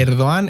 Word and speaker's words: Erdoğan: Erdogan es Erdogan, no Erdogan. Las Gs esas son G mudas en turco, pero bueno, que Mira, por mira, Eduardo, vete a la que voy mierda.